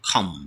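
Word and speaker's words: calm: মানে কিছু কিছু ওয়ার্ড আছে যেগুলোতে সাধারণত এল সাইলেন্ট থাকে এক্সাম্পল হিসেবে আমরা কয়েকটা ওয়ার্ড এখানে নিয়েছি যেমন খাম মানে শান্ত ফাম মানে হচ্ছে হাতের তালু এন্ড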